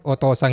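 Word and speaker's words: お父さん: Hati-hati aja, otosang itu termasuk cara baca khusus. Cara baca aslinya itu cici.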